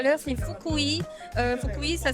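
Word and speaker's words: Fukui: Donc donc comme j'ai dit tout à l'heure, c'est foui. Foui, ça s'écrit en en latin, c'est F U K U I.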